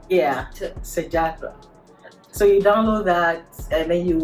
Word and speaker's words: Sejahtera: My Sejahtera. Yeah, so you have to download that. If you're just using English, Sejahtera. Sejahtera. But they'll be laughing at us because that's not how they pronounce T. Yeah, Sejahtera.